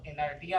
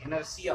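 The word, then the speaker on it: inertia: इसको इनर्टिया नहीं पढ़ेंगे आप लोग, इनर्शिया पढ़ते हैं। इसका प्रोनाउंसिएशन क्या होगा, इनर्शिया, ठीक है।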